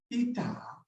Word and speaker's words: eta: This symbol is pronounced as eta.